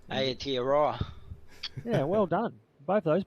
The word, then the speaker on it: Aotearoa: It's good to have the Aotearoa.